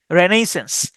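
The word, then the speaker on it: Renaissance: রেনেইস রেনেইস আই এস এস এ এন সিই রেনেইসেন্স রেনেসা বা হচ্ছে নবজাগরণ আর্কিওলজি এটা উচ্চারণ করতে পারেন এভাবে আরকা আরকা অথবা আরচা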